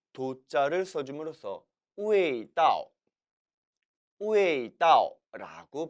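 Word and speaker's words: 味道: 따라서 남방에서는 길 도자를 써줌으로써 우웨이다오, 우웨이다오라고 발음해요.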